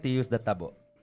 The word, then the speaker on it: tabo: How do What's the proper way to say it? I'm asking Raph, our guy here at TMC who helps us uh with our show. Tabo. Yeah. Tabo. Tabo. Yes. Okay.